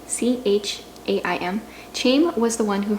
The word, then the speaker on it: Chaim: one last time because i don't know i pronounced this guy's name chaim c-h-a-i-m chaim was the one who heard the knock